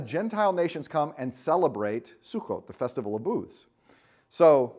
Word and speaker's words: Sukkot: good chance they're celebrating Sukkot. Sukkoth, is it sometimes pronounced, S-U-C-C-O-T-H. It's the Jewish holiday, the Festival of Booths.